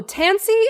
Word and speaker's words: Tansy: for me oh oh tansy oh yes t you spell it's like pansy from the t tk yes can you